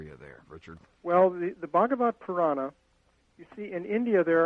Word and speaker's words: Bhagavata Purana: It's easiest to drop the A at the end. Oh. Because you can either pronounce it or not, but Bhagavata Purana. Bhagavata Purana. Would be the easiest.